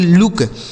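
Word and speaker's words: look: इस double O का उच्चारण हमें छोटा ऊ की मात्रा करना है। के से क। इसे पढ़ेंगे लुक।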